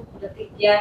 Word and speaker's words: प्रतिज्ञा: वो एक्चुअली अलग अलग प्रोनाउंसिएशन उनका लिटरेचर में होता है। ऐसा है, उसको प्रतिज्ञा ही बोले।